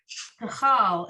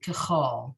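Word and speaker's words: כְּכָל: So kachal, it's written kachal, but most people pronounce it kachol.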